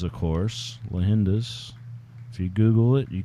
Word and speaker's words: Leyendas: you how you pronounce lahinda's lahendas and it's spanish for legends of course lahinda's if you google it